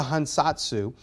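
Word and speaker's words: 藩札: This is called a hansatsu. According to my Japanese friends, I am pronouncing that relatively close to accurately. So it's a hansatsu is the way we pronounce this.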